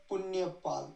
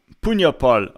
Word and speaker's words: Punyapal: on uh Telegram and I actually let him pronounce his own name so here we go it's punal punal all right so punal and I we discovered an issue actually he